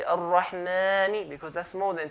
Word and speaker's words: Ar-Rahman: Okay, ar-Rahman, we're going to stretch the mim 2 counts.